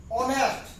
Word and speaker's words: honest: Now, honest, it is the, though there is the H, but its sound is not H. Honest.